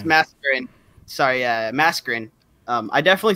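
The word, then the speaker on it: Masquerain: Yeah, it's Mascarin.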